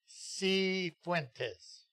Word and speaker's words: Cifuentes: Cifuentes. So the C is pronounced and the I is not.